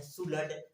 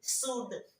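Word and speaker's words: should: ये हो गया आपका, बहुत लोग पढ़ते हैं सुलड, यानी कि सुल्ड। अब सुल्ड नहीं पढ़ना है, आज के बाद पढ़ना है बच्चों, क्या सुल्ड, सुड, सुड।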